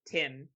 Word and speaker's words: T1M: This is T1M, but Tim is how it's said.